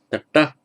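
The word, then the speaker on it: तट: Tata. Bit difficult to pronounce with a dental followed by a retro.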